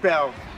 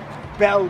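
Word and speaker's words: Beall: a l l ninan Bell when you read about the capital or about Georgetown it's always with this Bell guy although it's spelled Beal but they call him Bell and he was at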